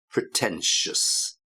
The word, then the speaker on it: pretentious: careful with the pronunciation, pretentious, ruthless, and then down to earth. So again, the 2 for the pronunciation there, obnoxious, pretentious. You get the same sound at the end, shus. Obnoxious, pretentious.